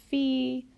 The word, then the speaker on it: Fi: solfege syllable is Li notice that all of the raised solfege syllables end with the letter I or the sound e so we're just changing the vowel sound on the regular solfege syllables so dough when it's raised a half step becomes D ray becomes REE becomes fee so will become C and law becomes Li so that's a good